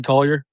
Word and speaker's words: Collier: But from Lorie Markin all the way to like um Isaiah Koy, whatever his name is, I can't pronounce his last name. Or Keonte George. Isaiah Collier.